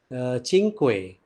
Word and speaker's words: Cinque: the board in syntax one the spelling is c i n q u e okay so way and not sync the pronunciation is cinque so in 1995 he wrote